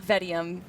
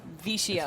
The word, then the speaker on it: Vicium: going up against Vicium, not Vedium, Vicium. It's Vicium. I was about to call it Vedium earlier today, and then FDOT was like, no, it's Vicium. FDOT is very big on making sure we pronounce it Vicium.